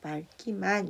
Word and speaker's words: 맑기만: 근데 다만 언제 용언의 어감 발음은 달라요. 용언의 어감 발음 리을 기역은 기역 앞에서 뭘로? 리을로 발음합니다. 이 막다는 용언이죠. 용언이고 용언의 어간에 맞게 이제 리을 기역이 나온 거라서 기역 앞에서 리을로 발음을 합니다. 그래서 맑기만 이렇게 돼요.